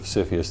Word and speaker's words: CFIUS: CFIUS, pronounced CFIUS, it's a funny way to pronounce it, is mostly interested in, its mandate is to protect US national security.